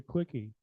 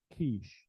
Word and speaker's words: quiche: And I said, I'd like to get a quickie. And she slapped me. The lady next to me said it's pronounced quiche there.